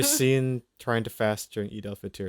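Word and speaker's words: Eid al-Fitr: Is it Fitr or Fight? You're saying it right. Eid Al Fitr.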